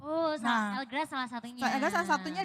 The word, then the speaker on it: L'GRAZ: Oh, tapi namanya apa Mbak kalau kita cari Elgrass gitu? Iya, sebenarnya ini bahasa Indonesianya Elgrass karena berasal dari lemongrass tadi. Tapi kalau orang-orang asing sih bacanya Legra. Legra.